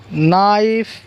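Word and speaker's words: knife: उसके बाद के साइलेंट देखेंगे, न्यू, नी, नाइफ, night, knob, not, neck, no, निटीर। क्या है, निटीर, नॉलेज। तो ऐसे वर्ड्स है जिनके अंदर जो है के साइलेंट है। क्या साइलेंट है, के जो है वो साइलेंट है।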